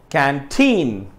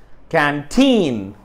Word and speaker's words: canteen: way i pronounce it canteen canteen canteen canteen okay if i if you are clear about that uh if you notice the second syllable is stressed canteen canteen now i said